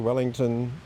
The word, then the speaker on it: Wellington: Can you say your name and spell it? Something in there? Sure, Wellington. So, Wellington, as in the boot, W-E-L-L-I-N-G-T-O-N.